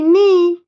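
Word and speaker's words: knee: के का उच्चारण नहीं आता है क्योंकि वो साइलेंट है।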